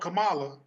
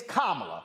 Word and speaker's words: Kamala: first of all uh again it's kamala her damn name is kamala okay can we pronounce the black woman's name right her name is kamala it's not kamala it's kamala so can we go ahead and get it right her damn name is